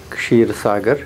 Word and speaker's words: Kshirsagar: a little bit complicated it's sheer sagar and i tell people that you have to do yoga with your tongue to pronounce my name correctly and i have i